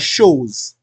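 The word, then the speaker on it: chose: You pronounce as shows.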